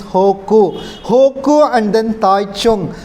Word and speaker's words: Hegu: Hoku means normally we pronounce as a Hegu. Hegu is a He H-E-G-U, Hegu, but according to the Chinese pronunciation is Hoku.